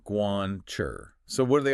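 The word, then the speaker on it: 关: Then the one in the middle is Guan, pronounced Guan. Guan.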